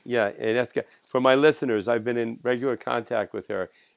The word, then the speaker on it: Agnieszka: Pronounce her name. And by the way, Agnieszka. Agnieszka.